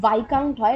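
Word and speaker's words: viscount: class of ecclesiastic like a discount v-i-s-c-o-u-n-t proper pronunciation vikang toy like a by count is not uh is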